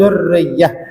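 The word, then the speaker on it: durriyyah: Allahumma sholli alaihi fa'adhim bihi min aqdin ta'allaqat kawakibuhud durriyatu. Aslinya ya, kawakibuhud durriyah, bacanya ditasdid ya-nya ya. Sudah ada tasdidnya.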